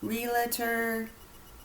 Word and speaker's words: realtor: Realtor. Realtor. Realtor. Realtor. What is it? What actually are you called? The term is realtor. R-E-A-L-T-O-R. 2 syllables. There's no in the middle. It's realtor.